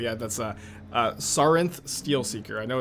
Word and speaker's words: Sarinth Steelseeker: Can you say the name of the card so I can learn how to pronounce it correctly? Yeah, that's Sarinth Steelseeker.